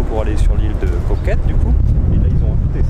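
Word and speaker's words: Koh Kret: laisse à la vidéo l'île de coquette juste ici s'écrit concrète mais ça se dit coquette c'est comme paquet ça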